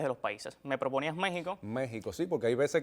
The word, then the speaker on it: México: una cuestión de preservar esa ortografía arcaica en la que la X tenía ese fonema de J, por eso es que decimos México con J, para respetar todo esto